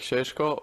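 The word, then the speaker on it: Šeško: Normally, I would love to like call me with my second name. So, like Shesho, but if it's a name, it can be Benjamin.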